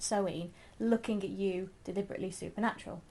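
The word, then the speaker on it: Samhain: SE that's it's spelled Sam ha but it's pronounced soen looking at you deliberately Supernatural got that one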